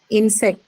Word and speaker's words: insect: Insect. No, Next one. noun. Insect. Noun So first syllable.